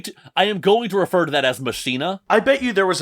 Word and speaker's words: Machina: quick though um so first off everyone I have heard including Billy Corgan pronounces it mashina which is this weird